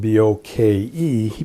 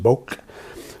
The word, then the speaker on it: bokeh: It was spelled B O K E. He put an H on the end so that people would realize that it was like two syllables and not just boke. So bokeh meaning the quality of the background blur.